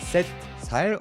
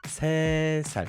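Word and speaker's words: 세: On va pas dire 7 sales, on va dire c sale. On ne prononce pas le t de 7, donc ça donne c sal.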